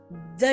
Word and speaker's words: the: த talk, தி அதர் talk. So இங்க பாத்தீங்கன்னா ஒன்று த சொன்னேன், ரெண்டாவது தி சொன்னேன். சரியா? அப்ப டிஹெச்ன்ற வேர்டுக்கு வந்து ரெண்டு ப்ரொனன்சியேஷன் இருக்கு. ஒன்னு வந்து த, ரெண்டாவது வந்து தி. சரியா?